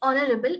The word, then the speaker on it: honorable: You should spell it honorable. H is silent.